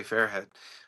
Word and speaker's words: Fairhead: Fairhead. Spelled like it sounds. If for you not watching, it's Fairhead.